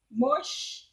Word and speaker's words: Moshe: But Moshe is the way that many Hebrews pronounce Moses' name.